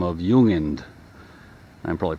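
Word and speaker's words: Jung: g uh I'm sorry no it's j it's pronounced with as if it's a y ju uh is German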